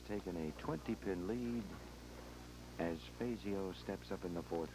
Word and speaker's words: Fazio: spell it right but he thinks Fazio is correct we're on the Motor City over the years in Detroit most of his friends actually called him Fazio that's the pronunciation we'll try to stick to so at the